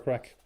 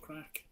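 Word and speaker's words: craic: Bran with the little affiliate code with Pure Crack. Congrats on that. Pure crack.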